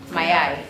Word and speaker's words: mayai: Mayai.